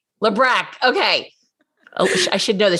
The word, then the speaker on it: Labrecque: here with alyssa and melissa is going to pronounce her last name for me lebron lebreck okay i should know that she's been a